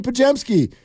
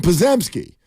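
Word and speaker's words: Podziemski: He got closer, but he called him Pazemski. There is a Z in there, but you're not going to pronounce it.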